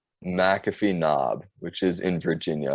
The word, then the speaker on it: McAfee Knob: I always pronounce this wrong. It's McAfee Knob, which is in Virginia.